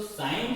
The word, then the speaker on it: sin: तो साइन की जो एब्रिविएशन होती है वो होती है साइन, SIN, प्रोनाउंसिएशन साइन ही किया जाता है।